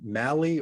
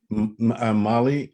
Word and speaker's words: Mali: Hey, and David, that song is that artist's name Mally, or do you pronounce it Molly? The second one. Molly. Yeah, he Mali, like the country Molly.